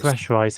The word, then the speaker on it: Repressurized: Now, how do you say that word? Repressurized. Repressurized. Repressurized, yeah, that's right.